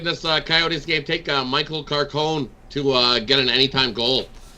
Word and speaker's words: Carcone: I'm saying it right. Carcone. Carcone. Been ripping it up for the Coyotes, and almost 3 times your money on him to get another goal.